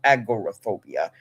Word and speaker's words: agoraphobia: I may have said it wrong, agoraphobia.